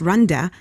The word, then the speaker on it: Randa: said her name is it's pronounced ronda but it's spelt randa and i know that